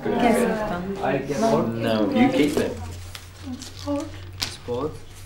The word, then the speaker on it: Kensington: What about Kensington? 3. So Kensington. Kensington.